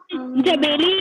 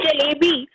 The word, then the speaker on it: जलेबी: जबेली नहीं, जलेबी।